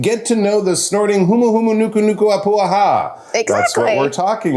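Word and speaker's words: humuhumunukunukuāpuaʻa: Humu humu nuku nuku apuaha. Actually, it's not that hard to pronounce, is it?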